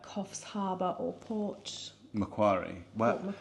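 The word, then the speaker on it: Macquarie: kough's Harbor or porch mcari well M see I always thought it was Mai but mcari is how everyone else pronounced it we SP p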